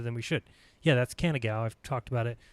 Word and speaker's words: Canigou: Yeah, that's Canigou. I've talked about it. I think it's pronounced Canigou, but it's spelled Canigou.